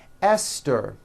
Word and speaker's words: Esther: And these words are Thomas, Thompson, Teresa, Thailand, Tames, like the river, Esther, and time, which is a spice.